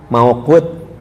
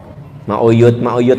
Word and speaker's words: mauqut: Mauqut. Mauyut, mauqut. Nah, jadi mauyut. Dengar asal perasaan pronunciation-nya nggak terlalu susah. Hah? Mauyut. Mauqut. M-A-U mau Q U-T mauqut.